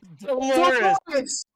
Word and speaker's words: Dolores: Dolores. Because he said it rhymes with a female body.